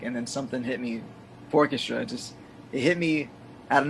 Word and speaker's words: Fourchestra: I don't know why, always with the accent on the wrong syllable. I've been saying Fourchestra rather than Fourchestra. It's not wrong. Because people from different, like a lot of times people from Trinidad, they also say Fourchestra.